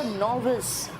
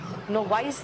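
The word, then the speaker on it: novice: अच्छा, नॉविस, नोवाइस नहीं कहना, इसका प्रोनाउंसिएशन है नॉविस।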